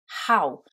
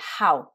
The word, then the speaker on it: how: prononce pas ho mais how bon déjà on prononce la lettre H comme dans quasiment tous les mots en anglais et ici le oow